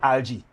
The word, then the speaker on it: algae: But the thing is, they live in close partnership with another organism, an algae, right? Or some people pronounce algae, right?